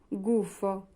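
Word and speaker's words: gufo: জি এর পরে উ আছে। উচ্চারণ হবে গ এর মত। গুফ মানে প্যাচা।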